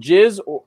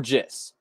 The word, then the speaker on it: jizz: Next, you're going to step into what's called jizz or jiss. It depends on who you're talking to. Different birders will pronounce it differently, okay?